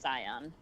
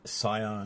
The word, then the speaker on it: Scion: Yeah, it's pronounced Scion. Like Scion. Like the car.